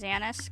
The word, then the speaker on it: Janus: I still pronounce it as Janus, because, you know, guys, I'm part German. I'm mostly German. So, the J's, sometimes I pronounce as Y.